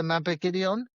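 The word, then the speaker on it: Mabinogion: Uh, one of my favorite books is the mapideon.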